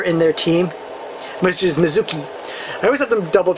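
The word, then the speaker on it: Mitsuki: the third member in their team which is Mizuki I always have to double check how to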